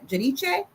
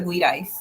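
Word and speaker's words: Giudice: to jail Teresa Jud Judiche see I say her name right I say it Italian so people like to say Terresa Guidise but their name is Judiche so Terresa Judiche and um Joe Judiche these people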